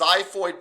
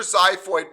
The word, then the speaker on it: xiphoid: As you go down the body of the sternum, do you guys see where it says xiphoid process? It's spelled with an X.